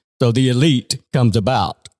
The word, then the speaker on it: Ely: That's Eli Callaway. Yeah. Ely Callaway. Right. And everybody says Eli, but it's Ely Callaway.